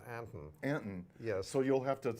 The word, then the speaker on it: Anton: a-n-t-o-nine except of course in this state it's pronounced Anton yeah so you'll have to stop and have